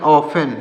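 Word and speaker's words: often: एन तो इसको पढ़ेंगे ऑफेन क्या पढ़ेंगे ऑफेन यहां पर टी जो है साइलेंट होता है तो हो जाएगा ऑफेन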